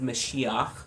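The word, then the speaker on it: משיח: the Messiah um Messiah is a Hebrew word mesiah is how you pronounce it in Hebrew um Messiah just means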